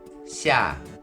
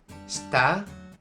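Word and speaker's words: 下: The pronunciation in Mandarin is xia, xia, and in Japanese is shita or small or moto for kunyomi. Shita, small, moto, and then ka or ge for onyomi. Ka, ge.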